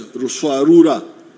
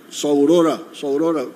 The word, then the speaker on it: Ruswarura: came to understand as Ruswarura. When you read, I think it is Speak, Understand, they write Saurora, but it didn't, they were mispronouncing the name.